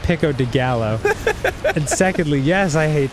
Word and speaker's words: pico de gallo: hate Tomatoes it's pronoun first of all it's pronounced pico de gallo and secondly yes I hate to I've always